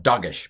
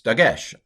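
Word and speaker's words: דגש: dagesh i used to i tend to call it dogesh but that's wrong but it's very dogged of me to call it doggish but anyway it's dagesh hebrew in general tends to pronounce um words with the accent on the last syllable so dagesh makes sense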